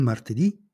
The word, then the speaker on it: martedì: e di genere femminile le parole con l'accento sull'ultima sillaba si chiamano tronche e non cambiano al plurale esempi il lunedì il lunedì il martedì Il martedì il mercoledì